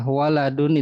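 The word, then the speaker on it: وَلَدٌ: Jadi panjang pendek dan harakat itu menentukan arti walidun artinya ayah. Waladun itu anak.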